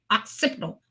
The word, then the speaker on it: occipital: you I couldn't I I'm looking at it like it's spelled like occupational you know and it's ocial occipital occipital occipital oipal oipal